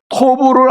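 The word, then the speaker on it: טוב: 히브리어로 토브를 한글로 발음한 게 돕인데, 토브는 아름답다, 선하다, 기가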